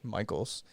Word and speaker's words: Mikols: I was actually impressed that you or pronounced it correctly. Michael's. It's shortened from, which is Polish.